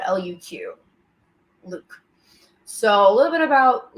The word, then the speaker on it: Luq: And his name is spelled Luq. Luke.